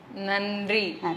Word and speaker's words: நன்றி: அதுக்கு தமிழ்ல என்ன சொல்லுவீங்க நன்றி நன்றி அப்படின்னு நாக்க கடிச்சு சொல்லணும் சரியா ஏன் நாக்க கடிச்சு சொல்றோம்